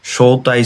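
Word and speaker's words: 招待: এরপরে দেখেন সৌতাই শুরু, সৌতাই শুরু ক্ষেত্রে আবার এটা বসছে তাই, অন্য রিডিংটা বসছে।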